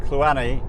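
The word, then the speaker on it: Cluanie: arrived at uh loch kluweni and i am reliably informed that kluani according to my scottish girlfriend is exactly how you pronounce it so hopefully i will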